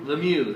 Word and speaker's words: Lemieux: Lemieux, how you pronounce it? Lemieux, thank you.